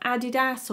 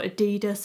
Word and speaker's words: adidas: you could talk to me about nike about adidas or adidas however you want to pronounce it and i don't get excited but